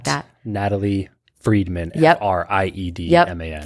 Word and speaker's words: Friedman: Friedman is spelled like fried man.